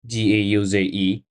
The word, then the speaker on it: gauze: word how pronounce it g a u z e that word is pronounced gauze it refers to a